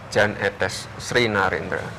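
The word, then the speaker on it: Jan Ethes Srinarendra: Ini cara membacanya bagaimana nih? Karena ada kesan bahasa asing. Yan, Jan atau apa? Etes, etes, etes sri Narendra yang betul bagaimana? Jan etes Sri Narendra.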